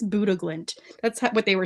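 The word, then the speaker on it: Bodø/Glimt: the big story of the day is, I think you pronounce it Buddha Glimt. I know it's spelled Bodo Glimt, but I think it's Buddha Glimt.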